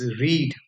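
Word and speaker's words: read: समझना है आपको कि जो रीड वर्ब होती है उसकी तीनों फॉर्म्स में स्पेलिंग सेम होती है बट जो उसका प्रोनंसिएशन होता है वो अलग हो जाता है जैसे हम बोलेंगे पहले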